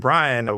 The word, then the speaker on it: Bryan: I used to, years ago, before I even studied it, I thought the lawyer's name was William Jennings Bryant, like the T.